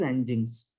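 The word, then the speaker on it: nginx: is this sentence there is something ng inx engines it's pronounced as engines okay okay and now what is this engines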